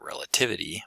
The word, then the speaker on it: relativity: Relative with stress on the first syllable, but relativity with stress on the third syllable.